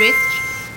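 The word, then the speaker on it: wrist: डब्ल्यू जब आता है आर के बाद रिस्ट, राइटर, रिटन, रेसलर एंड सो ऑन।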